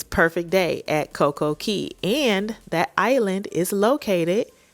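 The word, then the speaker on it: Coco Cay: In the Bahamas, the way you pronounce key, they spell it C A Y.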